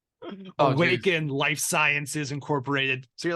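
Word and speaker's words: Awakn: trips psychedelics incorporated or awaken but spelled like capital A w-a-k-n awaken Life Sciences Incorporated so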